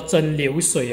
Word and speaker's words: 蒸馏水: 我们叫做蒸馏水哦，那个馏是刘老师那个读音哦，第二声哦，所以